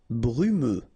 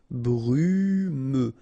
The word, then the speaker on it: brumeux: Brumeux. Okay, final X not pronounced, so you get this E and then U. Brumeux.